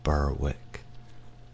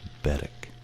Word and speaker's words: Berwick: And as another interesting one, it's not Berwick in Scotland, it's Berwick.